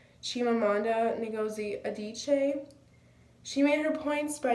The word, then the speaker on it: Chimamanda Ngozi Adichie: TED talk speaker I think her name is pronounced Chimamanda Ngozi Adichie she made her points by using anecdotes such